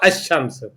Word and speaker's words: الشمس: لام نہیں پڑھا جاتا، اس کو صرف یہ پڑھا جائے گا الشمس، لام خاموش ہو جائے گا۔ اس طرح جن